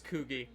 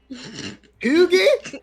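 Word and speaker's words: Cugi: His name is Kugi. Koogie? Kugi.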